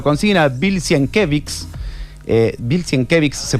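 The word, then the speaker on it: Sienkiewicz: esta est leyenda que se se formó alrededor, porque justamente eso eh lo consiguen a Bilsen Kevix, eh Bilan Kevix se pronuncia el es un dibujante Ramis, si tenés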